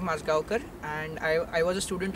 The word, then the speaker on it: Majgaonkar: so my name is pronounced Moscow car and I was a student of Toto Milani